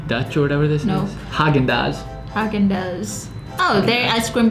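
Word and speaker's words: Häagen-Dazs: Hazen-dance. No, man. You're saying z. There's no z in the first word.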